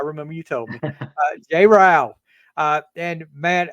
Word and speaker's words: Rao: Rhymes with cow. I remember you told me. Jay Rao.